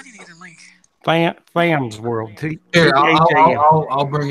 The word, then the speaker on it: Tham: THAM Tham's World. Yeah, Tham.